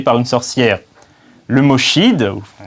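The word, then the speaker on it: sídh: Le mot Shid, qui se prononce Shi mais qui s'écrit Shid, a également donné les Sith dans l'univers de Star Wars.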